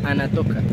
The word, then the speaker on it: Aratoca: provincia de Guanentá, y la palabra Ara Toca en su lengua indígena se pronunciaría Ana Toca, y traducido a la lengua indígena significaría más allá de lo alto del río.